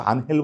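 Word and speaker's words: Ángel: আমার অবশ্য আনহেল বলতে একদম ভালো লাগে না। যতই স্প্যানিশ উচ্চারণে আনহেল হোক আমি এঞ্জেল বলতে পছন্দ করি।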